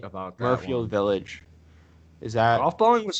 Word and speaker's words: Muirfield: Well, we were Murfield promised tickets to Village. the Masters. Just saying. Yeah, you are right about that. Murfield Village.